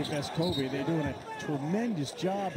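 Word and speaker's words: Vescovi: I wanted everybody to know the real way to pronounce it is Vescovy.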